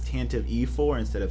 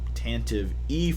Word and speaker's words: Tantive IV: set is tanta v you emphasized the e on the end so it's Tantive IV tanta that's what he